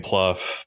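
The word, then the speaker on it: Plough: uh his manager jane jane pluff but it's spelled like plow um she's she's constantly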